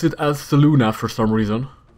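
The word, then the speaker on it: Selûne: You would think that's how you pronounce it, Saloon. It's S-E-L-U-N-E. Saluni? They pronounce it as Saluna for some reason.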